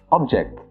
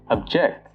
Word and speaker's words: object: If you're using the noun form of this word, you pronounce it as object. So for example, we were asked to hold the object in our hands. If you're using the verb form of this word, it becomes object.